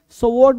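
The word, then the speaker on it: sword: कभी भी बदल जाएगी स्वर्ड नहीं स्वॉर्ड स्वॉर्ड नहीं स्वॉर्ड तलवार होता है यानी डब्ल्यू जो है वो साइलेंट है डब्ल्यू क्या है साइलेंट है स्वॉर्ड ये पूरा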